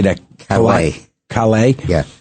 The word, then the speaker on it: Callais: Calais. Calais? Yeah. Callais.